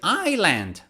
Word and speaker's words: island: huge columns column the next one is island last year for summer we went to a beautiful island ireland it's not iceland or iceland no it's island or another one is